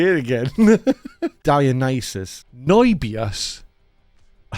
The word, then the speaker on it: Dionysus: Dionysus. Noibios. I said it earlier, Stu. Dionysus.